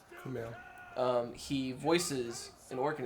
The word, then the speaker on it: Kumail: Kumail.